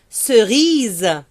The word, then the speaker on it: cerise: Et dans la langue française, le E final, on le prononce jamais, ok?